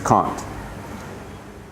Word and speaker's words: can't: would tend to say in America we would say can and can't because it's the same word just with an t on the end of it but here it's two different words it's can and it's con you say demand and